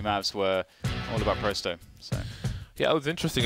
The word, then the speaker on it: Pro100: I like that we know it's Prosto, and we're not saying Pro100. Makes me happy.